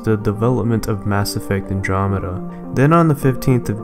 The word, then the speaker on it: Andromeda: new name androma now I'm pretty sure a good majority of us pronounced it androma something around that even I did but it's actually pronounced Andromeda in real life Andromeda